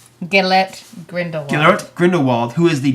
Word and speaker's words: Gellert Grindelwald: Depp will be playing Geralt Grindelwald. How do you say that first name? Hold on, let me look at it. Gellert Grindelwald.